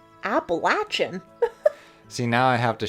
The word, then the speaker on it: Appalachian: Well, it's like, I just learned the other day, how, do you say Appalachian? Like the Appalachian Mountains?